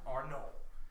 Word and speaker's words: Arnon: It's spelled Arnon, but it was French. It was French pronunciation or whatever. Arnon.